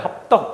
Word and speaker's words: 합덕: 발음은 떡이잖아요. 합떡 이런 식으로.